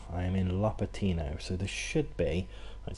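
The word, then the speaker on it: Lopatino: so this is that one which is actually pronounced la patty no I am in LA Pitino so this should be it so I've just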